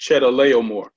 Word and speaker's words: Chedorlaomer: The king of Elam, that's pronounced Chedorlaomer.